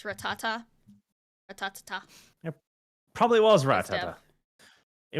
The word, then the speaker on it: Rattata: Uh, and then I'll always pronounce it like the Pokemon Ratata, but it's Rattata.